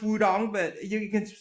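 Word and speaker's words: Wudang: And it's pronounced Wudong, but you can spell it with a T.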